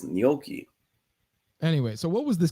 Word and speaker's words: gnocchi: But you're pronouncing it like gnocchi, but it's gnocchi.